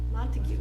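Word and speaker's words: Montague: is he coming from Montega how do you pronounce it Mon monteo it's an hour program mon montue thank you that's what I needed where's where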